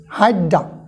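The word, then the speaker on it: Hydra: হাইড্ডা তোমরা কিন্তু এগুলো পারবা না খেয়াল করো উচ্চারণে বলে দিছি হাইড্ডা অবিলিয়া হাইড্ডা অবিলিয়া ঠিক আছে এবার আমরা পরবর্তী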